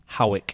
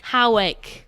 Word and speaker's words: Hawick: If I used to think before it's written, it was like Hoick, Hawick or something like that. Not that way. Hawick. It sounds like you're clearing your throat.